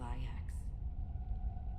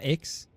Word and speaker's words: IX: So his name is pronounced IX? It's not X, it's IX? Okay. So he is IX.